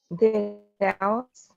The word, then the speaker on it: The Dalles: the Dells, Where?